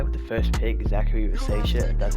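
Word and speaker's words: Risacher: drafted this guy with the first pick Zachary Ria that's how you pronounce it I'll be honest never heard of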